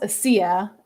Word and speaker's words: ASEA: Well, since it happened to me, it's pronounced ASEA. ASEA is ASEA, and when I started thinking about maybe I'll look into this, my mom just invited me to ASEA's international convention.